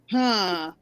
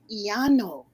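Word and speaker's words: Llano: And I'm asking, because, okay, I'm looking at it in English. Leano? No. Iano. It pronounces differently.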